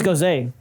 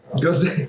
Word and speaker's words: Gose: It's a Ghost style ale with how do you say that? Syrah grapes. Syrah. Yeah. It's Gose. Gose.